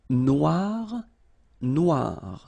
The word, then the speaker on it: noir: it's quite funny because you will have to add this at the end of Noir for the feminine form but then you don't pronounce it okay so phonetically it is exactly the same no no okay G